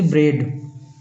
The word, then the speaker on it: bread: जैसे ब्रेड इसमें देखिए केवल बी के बाद इ का उच्चारण हो रहा है। ए का नहीं हो रहा है।